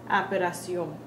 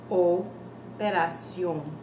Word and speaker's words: operación: What happens a lot is people end up saying operación. But what is our Spanish O? It sounds like O. Never does our Spanish O ever change. So we can't pronounce it like operación because that would be the Spanish A. That would be a Spanish A. Remember to be faithful to our sounds, so change our vowel sounds. This word is properly pronounced as operación. Operación.